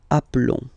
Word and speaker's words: appelons: Okay, so here for nous and vous, so we've got only one L, like here in the infinitive form. So that's the reason why I've been pronouncing appelons.